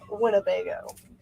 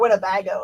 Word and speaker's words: Winnebago: Richard Chip's going to grab Winnebago, or Winnebago if you want to say it correctly.